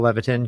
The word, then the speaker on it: Levitin: know as you said my name is Levon good job pronouncing it right lots of people don't get